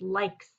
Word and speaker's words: likes: working on right now a long vowel with a silent e at the end l i and then here is a suffix right here so it's likes this word has a